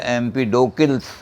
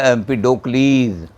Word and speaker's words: Empedocles: एम्पीडोक्लीज, और ग्रीक में जैसे लिखा जाता है कि ई पूरा उच्चारण किया जाता है, तो लिखा जाएगा एम्पीडोकिल्स, CLES, पढ़ा जाएगा एम्पीडोक्लीज।